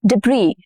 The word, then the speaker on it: debris: Debris, debris, and not debris, debris.